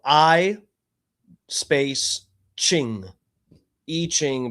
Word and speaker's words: I Ching: I Ching, but it's the letter I.